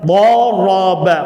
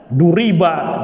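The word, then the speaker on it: ضَرَبَ: Doroba. Perhatikan harokatnya sama nggak? Sama, harus sama. Jangan wazannya fa'ala dibacanya duriba, jangan. Dibacanya durubu, jangan. Ya, berarti apa? Ya, keluar dari timbangan.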